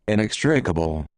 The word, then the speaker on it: inextricable: what they say here inextricable oh there we go that's more like what i said inextricable inextricable that's a robot inextricable